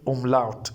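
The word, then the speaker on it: Umlaut: Oml singular we say um lout.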